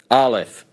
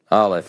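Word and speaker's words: אלף: So for the present, Aleph. Aleph.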